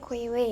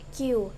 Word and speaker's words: queue: secara harfiah atau eh yang lebih enak tuh disebutnya KW ya tapi sebenarnya KW itu dibacanya q dapat diartikan sebagai antrian